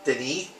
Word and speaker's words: Denis: It's Dennis, but he could be French, so I'll pronounce it Denis.